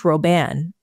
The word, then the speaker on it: Robin: Pierre Robin sequence um I've heard of pronounced roban uh we don't talk